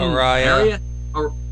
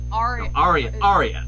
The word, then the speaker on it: Aria: I forgot to pronounce it again. Araya. Aria.